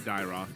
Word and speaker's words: Dyroth: How do you pronounce that actually? I Dyroth. say Dyroth. Yeah.